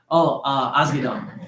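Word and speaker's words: Asghedom: Asgadon.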